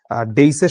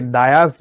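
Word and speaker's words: dais: কিন্তু আমি যেহেতু ডেইসের সামনে দাঁড়িয়েছিলাম, এটাকে ডায়াস বলে মানুষ। এটা ডায়াস না, এটার উচ্চারণ হচ্ছে ডেইস।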